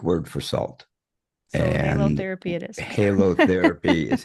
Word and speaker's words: halotherapy: So And halotherapy it is.